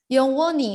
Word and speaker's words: 영원히: Yongwoni, betul. H-nya sedikit ya dibacanya.